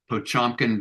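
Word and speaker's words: Potemkin: is really like, what they call a Pochomkin village, to use the Hmm. Russian pronunciation.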